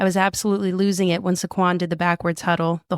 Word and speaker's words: Saquon: Saquon. Well, yes, that's how you say it.